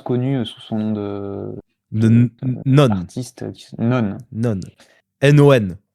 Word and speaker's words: Non: Renanonen, qui est plus connue sous son nom De Non. d'artiste, Non. Non. N-O-N. Bon, non, N-O-N, oui. mais ça se prononce non.